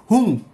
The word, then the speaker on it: হুং: উন্নেশায় উন্নেশায় কুরু কুরু হুং ফাট সহা একটু ভেঙে বলে দিই ওং ও এন জি ওং অনেকে ও এম বলে ভুল উচ্চারণ বলবেন না ওং হুং এইচ ইউ এন জি হুং ওং হুং হুং হুং